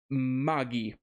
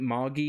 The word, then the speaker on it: Magi: fire then we got Magi uh Kingdom of magic and Labyrinth of Magic which uh they actually pronounce it MGI in the show but I always pronounce it as Magi that's why my YouTube